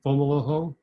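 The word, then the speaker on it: Fomalhaut: that's recently been discovered is with the star fomolo i may be mispronouncing that f-o-m-a-u-l-a-u-t it's a first magnitude star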